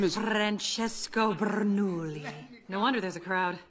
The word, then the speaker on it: Bernoulli: Francesco Bernoulli.